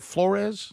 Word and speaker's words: Flores: Is it Flores?